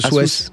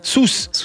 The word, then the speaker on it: Sousse: C'est quoi ce Souesse? Sousse. Putain, j'ai honte, je suis du Sud pourtant et je prononce tout à côté. Non mais on dit Sousse. On aurait pu se dire on dit Sousse. On dit Sousse, voilà.